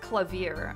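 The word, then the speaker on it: Klavier: __ ] it oh it's pronounced clavier okay I did go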